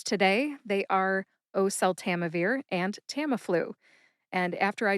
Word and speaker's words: oseltamivir: Oseltamivir has five syllables.